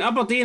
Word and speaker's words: Aberdeen: You're emphasis in the A enough. It's Aberdeen.